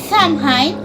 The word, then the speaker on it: Samhain: In fact, a harvest festival, called Samhain, or Sain as they pronounced it.